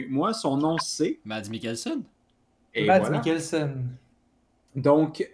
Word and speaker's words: Mads Mikkelsen: à prononcer son nom parce que Matt le prononce mieux que moi. Son nom, c'est... Mads Mikkelsen.